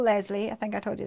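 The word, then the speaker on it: Leslee: Although I say her name's Lesley, technically her name is Lesley. She spells it different. L-E-S-L-E-E. And I'm L-E-S-L-E-Y. But she's from America. So she says Lesley.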